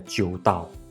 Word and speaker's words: Ixdao: Ixdao, or Ixdao. Alright, the Chinese pronunciation is so much better, Jiudao.